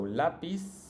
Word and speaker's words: lápiz: In Latin America, both of these words are pronounced like an S. So lápiz and lápices.